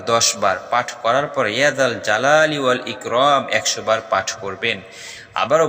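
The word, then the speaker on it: يا ذا الجلال والإكرام: বলছি এশার নামাজের পর ছোট্ট একটি দোয়া দোয়াটার উচ্চারণ হলো ইয়াদাল জালালি ইকরাম আবারো বলছি ইয়াদাল জালালি ওয়াল ইকরাম ইসমে আজম মহান আল্লাহর এমন নাম যে নামে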